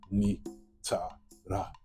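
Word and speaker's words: Netjer: So you see the word netter, N-T-R, which is really ni-ta-ra, netter. The next symbol is that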